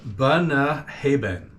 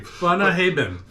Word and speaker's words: Bunnahabhain: So I'm going to butcher the name. It's a Bunnahabhain. So for viewers, that's probably his fourth try. Trying to say that name. Bunnahabhain. Bunnahabhain.